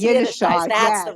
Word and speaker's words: Yiddishkeit: It's Yiddishkeit, Yiddishkeit. That's the yes. right way to say it. It's Yiddishkeit.